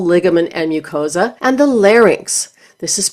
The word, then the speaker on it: larynx: up of muscle, ligament, and mucosa, and the larynx. This is pronounced larynx, not larynx.